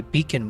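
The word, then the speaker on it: Beacn: I've got a predicament here where I'm using a beacon mic. B E A C N mic is how you spell it.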